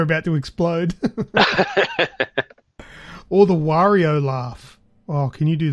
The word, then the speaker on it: Wario: I always thought it was Wario, not Wario. Oh, well, I say it like Mario. Wario. Yeah. Because it's just the M turned upside down.